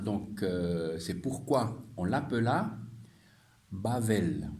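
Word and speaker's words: בבל: c'est pourquoi on l'appela bavelle on prononce bavelle mais on écrit Babel BBL et c'est facile en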